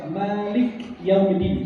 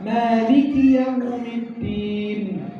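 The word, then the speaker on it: مالك يوم الدين: Banyak orang salah baca Malik Yaumiddin, salah karena kafnya ada kasrah bukan sukun. Maka dibacanya cepat. Maliki Yaumiddin.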